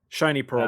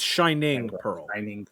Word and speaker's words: Shining Pearl: name wrong for correct we got shiny shiny pearl but it's shining pearl yeah uh so sorry